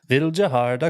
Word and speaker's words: Vildhjarta: Vildhjarta, kristallfågel.